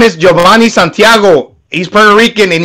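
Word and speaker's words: Jovanni: for regardless so yeah but it's giovanni spelled it's spelled j-o-v-a it's not like giovanni this is giovanni yeah real quickly real quick before i let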